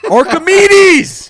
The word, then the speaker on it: Archimedes: Archer M Mendez Arch a r c h i m e d e s am I saying that wrong Arch archam meds I just remember Archimedes Archimedes that's how you say it archim meds archim